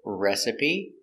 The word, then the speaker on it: recipe: first word is recipe we're going to pronounce all the letters it's three syllables recipe and a recipe is cooking instructions this is one recipe I can have two recipes it's countable so there are a lot of good recipes in the cookbook pronunciation of recipe rera rup rup e r recipe recipe put the stress on your first syllable recipe recipe recipe let's